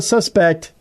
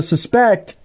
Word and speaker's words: suspect: a mysterious woman that some suspect, not a suspect, but a suspect. It's a wrong accent on the wrong syllable, Tim.